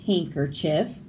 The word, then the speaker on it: handkerchief: The boat race begins when the handsome judge from Djibouti drops his handkerchief from the bridge. Handkerchief, bridge, Djibouti. Silent D's in those words, but you have to spell it with it in there or it's spelled wrong.